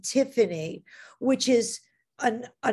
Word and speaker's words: Tiffany: And here, the Y in Tiffany, being the third syllable in the name Tiffany, and it's pronounced as a vowel at the end, like the E, Tiffany.